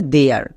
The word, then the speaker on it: there: যেমন TH এর জন্য দো এবং একদম শেষে ERE আছে, এর জন্য এয়ার, তাহলে দো প্লাস এয়ার হয়ে যাবে দেয়ার।